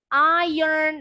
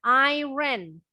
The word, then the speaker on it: iron: Iron, nah ingat bacanya bukan iron, tapi iron.